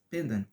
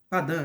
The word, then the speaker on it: pendant: não fazia pendant eh Aliás pendant não padan né Ah tá a pronúncia aqui ó padan par equivalente simétrico com